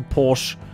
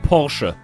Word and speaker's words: Porsche: Definitely not a Porsche. Or rather, as it's properly pronounced, Porsche. Yes. It's not a Porsche.